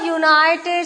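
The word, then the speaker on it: United: इन the simple sentence बलो शी इज अ यूनाइटेड states minister य से हमने प्रोनंसिएशन किया राइट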